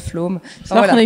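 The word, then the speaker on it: Flåm: le Flamsbana en allant à Flam, ça se prononce Flom.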